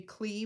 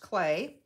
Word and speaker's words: Klee: it's actually spelled k-l-e-e so it looks like it should be clea but it's pronounced clay um i think he's